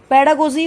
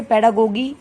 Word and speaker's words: pedagogy: यू कैन से पेडागोगी, यू कैन से पेडागोजी, it doesn't matter, क्योंकि English language में अलग होता है, अमेरिकन प्रोनाउंसिएशन अलग है।